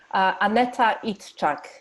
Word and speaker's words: Aneta Idczak: Aneta Idczak.